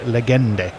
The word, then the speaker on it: Legende: Linux Lear is telling me, sorry Tony, but you have to pronounce the final E in legende. Legende. And I called him a legend. But apparently it's legende.